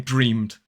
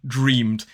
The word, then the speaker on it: dreamed: And of course, as I've said before, you will also see British people saying dreamed. And notice the difference in pronunciation between the irregular dreamt and dreamed.